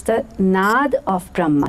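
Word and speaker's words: nāda: the parenthesis it said n a da which I from pronounced in my head nada which actually supposed to be nod nod means sound in Sanskrit language but I read it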